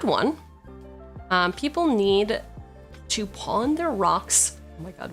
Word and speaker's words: pain: Pain sounds like pawn. Uh, that is how it's pronounced in French, isn't it?